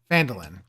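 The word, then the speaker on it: Phandalin: were good in the nearby human town of fandal pronounced fand felin Falin uh prospered as well but then disaster struck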